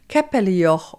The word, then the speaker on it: Käppelijoch: And on this bridge stands the capellor, or if you pronounce it correctly in Swiss German, it sounds like this. Capellio or means roughly translated little chapel on a pillar.